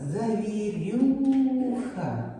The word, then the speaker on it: завірюха: і ха твердий приголосний куди падає наголос слові завірюха завірюха у нас і чотири Склади і наголос падає на третій склад Але чому слово нам